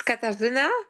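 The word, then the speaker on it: Katarzyna: Um, but I'm guided to go to uh Katrazina. I hope I'm pronouncing that correctly. Welcome to the call. Please pronounce your name. It's Katzina but it's s my simpler name is which is short.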